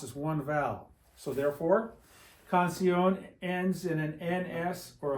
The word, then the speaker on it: canción: The accent goes on the O. What happens if you put it on the I? It'd be canción. Like the word for uncle, tío, tia for aunt. There's an accent on the I, right? It breaks up the I and the O and makes two separate vowel sounds. Two vowels. But I-O, one vowel sound.